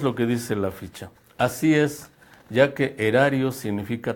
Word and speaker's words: aes: Erario, la palabra erario, procede del latín aerarius, que significa monedas de cobre, por la raíz aes, o as digamos ya pronunciado así.